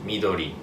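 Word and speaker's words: 緑: Green is midori.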